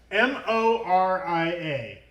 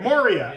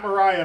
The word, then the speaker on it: Moria: is our Lord of the Rings expert we pronounce low the card lower the card m o r i a Mor Moria okay I said it right the first time okay Moria Marauder not Mariah Marauder that's what they called me at the